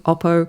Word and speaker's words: Oppo: We've seen like other manufacturers like the N the Oppo Oppo Oppo, I say it like the Australian Oppo, Yeah, I buy.